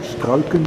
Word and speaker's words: Struycken: my house is really is talking using fatal skulkin is the way you pronounce his name but people called us